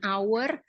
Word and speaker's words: hour: honor juga tapi her jadi h-nya itu tidak dibaca Nah di sini suaranya